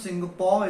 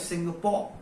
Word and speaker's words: Singapore: The correct pronunciation of Singapore is Singapore. It's not Singapore.